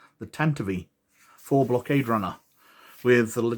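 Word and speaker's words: Tantive IV: the tantive tentavi iv i've got to remember how to pronounce that right since i learned that tent eve wasn't its name the tentavi for blockade runner with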